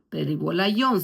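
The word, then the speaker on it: περιβόλαιον: Pero cuando habla de cubrirse más adelante usa la palabra peribola. Peribolayón se puede pronunciar.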